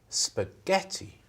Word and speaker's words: spaghetti: How many syllables? 4 syllables, you think? Yeah. You think 4? Yeah. Listen to me. Listen to me. Spaghetti. 3.